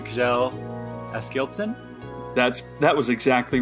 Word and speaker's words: Kjell Askildsen: Before by, again, I don't know how to pronounce the name, Kjell Askildsen?